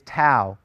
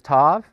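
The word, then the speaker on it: ת: we go is Tao now some people will pronounce this as Tov it doesn't really matter how you pronounce the name of the letter tau or Tov it's the T sound as in toy and we're going to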